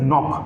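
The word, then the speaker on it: knock: Okay come to the next, this is नॉक।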